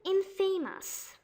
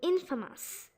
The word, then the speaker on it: infamous: They say it infamous, but it's really supposed to be infamous.